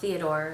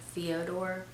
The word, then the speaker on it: Fyodor: And then, to round off our cast, we have Fyodor, not Theodore, it's like Fyodor, Capellini, I believe is how you pronounce it.